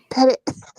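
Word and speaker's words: Petit Jean: Pettit Jean River is how they pronounce that. Pettit.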